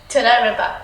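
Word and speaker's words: תודה רבה: Toda Rabba.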